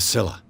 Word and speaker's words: Scylla: A Scylla.